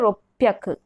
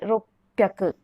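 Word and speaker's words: 六百: This hyaku use will be applied for everywhere, but only this red highlighted place, the pronunciation will change. For 300, sanbyaku. For 600, ropyaku. For 800, hapyaku. For remaining, it is hyaku.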